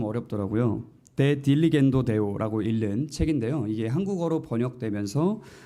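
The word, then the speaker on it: De diligendo Deo: 데 딜리겐도 데오라고 읽는 책인데요.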